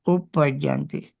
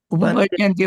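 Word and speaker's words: uppajjanti: Uppajanti. Upapajanti also correct. But in the stanza, Gabbameke Upapajanti is not correct, because when you say this, Gabbameke Upapajanti actually is right, but Upajanti is easy to pronounce. But Upapajanti also correct. Both are correct. Upapajanti and Upajanti.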